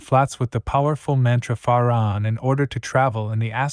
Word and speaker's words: Fa-Ra-On: The complete mantra Fa-Ra-On is divided into 3 syllables as follows: Fa-Ra-On. The Fa is that of the musical scale. The Ra is a deep sound. It must be vocalized with a rolling R.